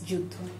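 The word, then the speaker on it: যুদ্ধ: Maybe it's like this, youth. And in Bangla, this is Juddha.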